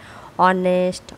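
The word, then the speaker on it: honest: আবার অনেস্ট hour honourable এই শব্দগুলো বানানে প্রথম এইচ থাকলেও সেগুলো উচ্চারণ হ না হয়ে স্রবর্ণ দিয়ে শুরু হচ্ছে যেমন আওয়ার অনেস্ট অনারেবল ইত্যাদি।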